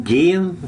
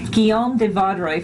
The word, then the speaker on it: Guillaume de Vaudrey: Can you pronounce his name? Guillaume? Wrong. Guillaume de Vaudrey from France That's is with close.